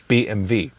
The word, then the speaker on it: BMW: So BMW, yeah, because in Germany we say BMW. So BMW is BMW.